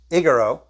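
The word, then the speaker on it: ἐγείρω: That's word 1453, pronounced egero, which this word appears 144 times in the Greek New Testament.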